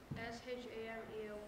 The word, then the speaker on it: Shamel: Shemel. Yeah. What's your name? Shemel. How do you spell that? S-H-A-M-E-L.